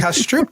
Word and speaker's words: Kastrup: No, that's another book that's pronounced cash Stroop.